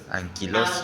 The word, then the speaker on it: anquilosis: Anquilosis. Anquilos. Ah, ya. Con acento en la I.